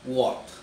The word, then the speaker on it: what: Bukan what, bacanya tapi what, ya.